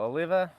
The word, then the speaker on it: Oliva: got some oliva well oliva oliva i think all of us have our last heard it pronounced series o olivia oliva there is no i after the v so i'm going to